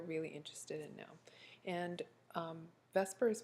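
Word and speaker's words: VSEPR: interested in now and Vesper is pronounced vascara with an e between the V and the S however there is no actual e there and it stands for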